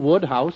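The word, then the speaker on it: Wodehouse: what was that again woodhouse that's how it's pronounced you see i've been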